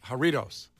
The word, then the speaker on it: Jarritos: Jarritos? Good Lord. No, it's Jarritos. Jarritos? Am I right, Kenzie? It's Jarritos. Yeah, it's Jarritos, but when you say it, you sound like you're saying Doritos.